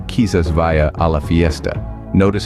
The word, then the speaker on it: quizás: Spanish let's break down the pronunciation kisas is pronounced as kisas say it with me kisas good now let's move on to talves this